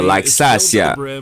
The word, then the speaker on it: Laxasia: That's how you say it, Laxasia.